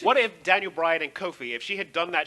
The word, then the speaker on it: Kofi: coffee in a minute. No, wait. How you say it? Coffee. Coffee? No, Kofi? Kofi. Oh, excuse me, Sonny Sofrito. Kofi. There we go.